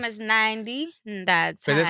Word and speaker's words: Nandi: It's Nandi in the tiny. Nandi. Not Nandi or anything like that. Nandi.